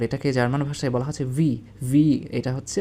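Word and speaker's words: wie: হাউ মানে হচ্ছে কিভাবে যেটা আমরা বাংলায় বলে থাকি আর এটাকে জার্মান ভাষায় বলা হচ্ছে ভি এটা হচ্ছে উচ্চারণ হবে ভি হয়াট হয়াট মানে হচ্ছে কি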